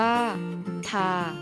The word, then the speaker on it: 它: อ่าน ออก เสียง ว่า ทา โดย จะ อ่าน ออก เสียง เหมือน กับ คำ ที่ 4 และ คำ ที่ 5 ถ้า ซึ่ง การ ใช้